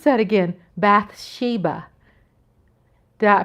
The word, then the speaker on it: Bathsheba: Bathsheba, hello, Coyote. Hi. Pronounce that again. Bathsheba.